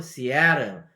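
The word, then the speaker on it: Seattle: 뉴욕 이렇게 발음해야 되고 시애틀도 시애틀이 아니고 시애틀 애 강세가 가니까 틀이 죽는 거거든요. 그러니까 시애틀 이렇게 되는 거죠.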